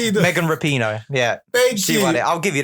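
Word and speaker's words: Rapinoe: RPD rapid and how to pronounce it it's pronounced Megan rapino yeah baby I'll give you the points yeah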